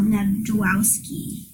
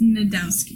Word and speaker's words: Nadowski: And we were talking about a researcher named Adele Nadwowski. Did I say her last name right? It's Nadowski. Nadowski. The J is silent. I added the J.